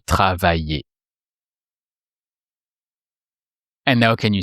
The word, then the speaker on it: travaillais: And you replace the ending by the sound et to make the imparfait. And with er verbs like travailler, it doesn't change because it already ends with the sound et, so it just sounds travailler. Je travaillais.